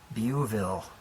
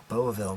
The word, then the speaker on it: Beauville: The Bel Air Beauville. Beauville, maybe I'm saying it wrong. Beauville's correct. Beauville's correct.